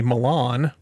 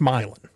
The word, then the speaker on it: Milan: Or if you say Milan, no, that might be in a foreign country, Milan, but here it's Milan.